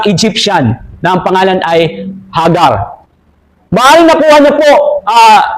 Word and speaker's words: Hagar: Nakita niya ang isang pagkakataon sa pamamagitan ng kanyang aliping Egyptians na ang pangalan ay si Hagar o si sa tagalog ang pronunciation ay Hagar.